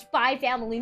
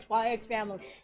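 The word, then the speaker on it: SPY×FAMILY: Oh yeah, it's Spy Family, not Spy X Family.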